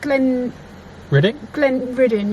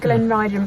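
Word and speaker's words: Glenridding: I think it's pronounced Glen Ridden, yeah. I said Glen Riding, but I think it's Glen Ridden.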